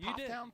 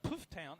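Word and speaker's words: Pfafftown: up puff Town puff it's not puff toown it's puff town I didn't say poof that's what you did Puff Puff Town puff Town puff town okay PFF town is spelled p f a FF t o n there's tons of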